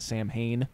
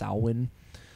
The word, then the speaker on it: Samhain: of Sal win most people commonly call it Samhain but it's actually pronounced pronounced Alwyn and so they use this like huge marketing